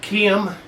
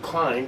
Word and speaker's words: Keihin: These carburetors are Keihin. It's Japanese, but it doesn't sound like it. But that's the way supposedly it's pronounced. I've always called them Klein just because I didn't know any better.